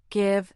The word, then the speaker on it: give: But as with all things English, exceptions abound, the words get, give, and girl defiantly retain the hard G sound despite being followed by E or I.